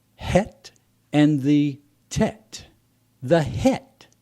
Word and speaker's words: Chet: two Hebrew letters is the Chet pronounced het and the Tet the